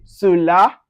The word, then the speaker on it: cela: So anyway, you see CE, CI, or CY, you pronounce it as so. An example for them, you can see cela. So you can see it's pronounced with S, soft S. We say cela, cinéma, or cycle.